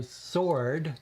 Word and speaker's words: sword: in the alphabet so sword the w is silent is what number in